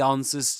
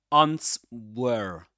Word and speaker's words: answers: It answers to me. It's not ants were not ants were. The were the this letter the W here or the the the sound W is not pronounced is silent.